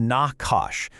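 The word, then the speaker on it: נחש: Enter the Nakashash, pronounced Nakash.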